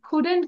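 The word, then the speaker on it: couldn't: হি কুড come he কুডেন্ট কাম এটাকে উচ্চারণ করবো কুডেন্ট কুডেন্ট কুডেন্ট ইউ কুড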